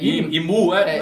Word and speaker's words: Imu: Im, Aim, é, Imu, no japonês, se não me engano, ficou como Imu. Sim, Imu a pronúncia, que fica meio que também até mais fácil pra gente, porque parecem duas sílabas.